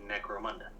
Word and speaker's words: Necromunda: It's like necrophilia, but Necromunda.